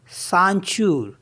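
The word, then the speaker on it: ceinture: सी ई आई एन टी यू आर ई सांचू सांचू means होता है belt और next word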